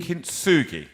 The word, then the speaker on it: Kintsugi: I want you to pronounce it, actually. Kintsugi.